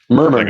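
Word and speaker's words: Murmuur: you spell it right am I saying it right M murmur murmur yeah like a murmur yeah got heart M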